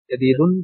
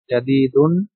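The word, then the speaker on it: جديد: আমরা বাচ্চাদেরকে এভাবে পড়াই, জাদিদুন, জাদিদাতুন, নতুন, কদিমুন, কদিমাতুন, পুরানো বা পুরাতন।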